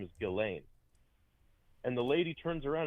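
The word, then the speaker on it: Ghislaine: Because that's that's how you properly pronounce her name is Gileain.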